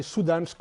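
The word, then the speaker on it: Syddansk: is a suit so the reason why we spell it SDU is because in the indian is we say su dansk university it's not University of Southern Denmark but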